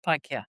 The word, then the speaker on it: Paikea: And as a descendant of Maui and Paikea, is it how we say? From Beautiful. Yes, Paikea.